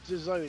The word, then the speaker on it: DAZN: No, it's DAZN.